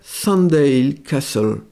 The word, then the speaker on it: Sandal Castle: prononcer de façon francisée, Sandal Castle. Alors, en anglais, on prononcerait Sandale Castle.